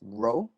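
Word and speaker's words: rho: simple okay and this oops so this is row pronounced row it's a greek letter for r um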